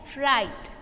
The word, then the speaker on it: write: फिर है राइट, उसमें राइट में W साइलेंट वर्ड है।